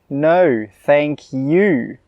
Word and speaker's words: no thank you: And note here how I really emphasise the word 'you'. I don't say 'No, thank you.' I say 'No, thank you.' So remember, if you use this phrase, make sure you emphasise the 'you'.